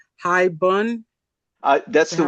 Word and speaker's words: haibun: We're pronouncing high bun. Is That's that the how we way I was pronounce taught. it? I've heard, high bun. I've had high boon.